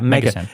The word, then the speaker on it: MegaSyn: And so they call it MegaSyn or MegaSyn. How do you say it? Yeah, MegaSyn. So it was a really quick name for megasynthesis.